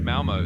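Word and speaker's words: Malmö: Is it Malmo? Yeah, you got it. It's basically pronounced Malmo, so you're spot on.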